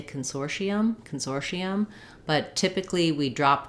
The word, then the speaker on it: consortium: for us when we have the letter T followed by unstressed syllables most of the time in American English that becomes a flap which sounds more like a d Consortium I recommend the Consortium